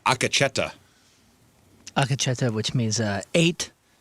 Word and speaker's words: Akacheta: Not octo-cheta. Oh. I thought Akacheta's when you sing really high. That's like a Bee Gee, right? Like one of the Bee Gees. It's he sings Akacheta. How do you spell it? A K E Oh, A K E. Uh-huh. C H E T A Okay.